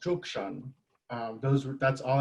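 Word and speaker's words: Cuk Ṣon: tucson which actually was our traditional village and pronounced zhukshan um those were that's all ancestral land right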